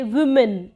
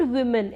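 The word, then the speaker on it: women: For example कि जब हम बात करते हैं कि कैसे बोला जाए वुमेन, लोग बोलते हैं वुमेन, इट्स नॉट वुमेन, इट्स विमेन, विमेन।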